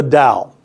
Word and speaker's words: Tao: in balance with the dow all right now we in the West we spell it with a tee but it's pronounced d Taoism and Dow in